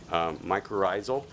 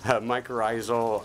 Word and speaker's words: mycorrhizal: to talk to us a little bit about mycorrhizal did I pronounce it correctly yeah he taught me how to say it correctly mycorrhizal uh um associations associations with fungus so we're